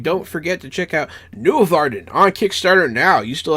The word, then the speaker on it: Nuorvarden: I also said the name wrong because it's Nuorvarden.